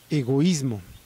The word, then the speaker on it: egoísmo: Tenemos otro ejemplo con la palabra egoísmo. Si la palabra egoísmo tuviera menos sílabas, sonaría algo parecido como egoísmo, egoísmo, pero no es egoísmo, es egoísmo.